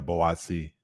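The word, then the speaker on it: Buatsi: Yeah, Boatsi.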